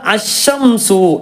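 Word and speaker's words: الشَّمْسُ: അപ്പോൾ ഇവിടെ അശംസു എന്ന് വായിക്കാൻ കാരണം എന്താണ്, ഇവിടെ തുടങ്ങുകയാണ്. നേരെ മറിച്ച് അല്ലമഹുൽ ബയാനശംസു ബയാനശംസു, ഇപ്പം ആ അലിഫ് പോയി, വസലിൻ്റെ ഹംസ പോയി.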